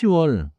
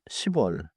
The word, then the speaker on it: 시월: Now watch two special month names.음 같이 is 6월 not 6월 is 10월 not 10월 11월 is November.